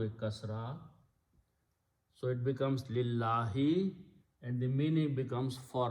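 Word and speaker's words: لله: So when you read them together, you do not pronounce this alif, you pronounce the word lillahi, and you write down this lam here, lil lam, this one, and alif is not written.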